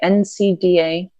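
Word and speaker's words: NCAA: played this thing about NC da is how you say it the college one yeah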